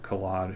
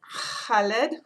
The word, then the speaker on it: Khaled: the Kite Runner by Khaled Hosseini I'm trying to say that correctly I was told how to pronounce it one and you don't say the K the way we would all of his books